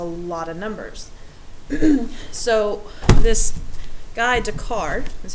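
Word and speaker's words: Descartes: gives us a lot of numbers so this guide to card is how you say his name this mathematician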